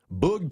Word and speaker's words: Boog: We got Archie Moonlight Graham, Razor Shines, Boog Powell, Coco Crisp. He's currently playing. Isn't it Boog? Not Bug. It's Boog, isn't it? Boog. I thought it was a Powell. Boog. Double O.